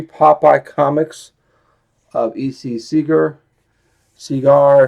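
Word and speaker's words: Segar: comic of EC Seager cigar seagar cigar how you want I think it's cigar or seagar because he signs he put a little cigar on his signature so that's how I'm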